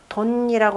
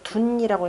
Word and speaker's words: 遯: 돈이라고 하는 것 원래 이제 둔이라고 읽어야 되죠. 괴명으로는 천산 돈괴가 되고 은둔하다라고 할 때는 이제 둔이라고 읽는데 뭐 같이 읽어도 상관없고 그래서 둔은 퇴하라 물러감이라